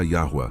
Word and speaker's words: Yahu: A única pronúncia consistente com os sons do hebraico, os nomes bíblicos e as evidências arqueológicas é Yahu, adaptada em português como Yahu com o R aspirado, os manuscritos do Mar morto e a verdade preservada.